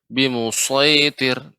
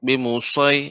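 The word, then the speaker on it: بمصيطر: Ibu, untuk pengucapan so Ya, ya, tidak harus memunyungkan bibir. Bimusaitir, tidak. Bimusaitir, ya, bimusaitir, bimusaitir, Yes. ya. Tadi Yes. terdengar agak sedikit memuncak bimusai ya, seperti dipaksakan jadi bimusai enggak, bimusaitir.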